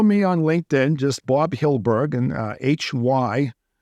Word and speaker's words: Hyldburg: and on Instagram it's same thing just Bob hilberg just uh h y l d as in David B RG a lot of people pronounce it heidleberg and Hindenburg and chicken BG and Hamburg I've heard all